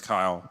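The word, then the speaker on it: Kiel: So just correction, it's Kyle, but that's okay. It's spelled differently, so. It's about K-I-E-L, so that's probably what the confusion is.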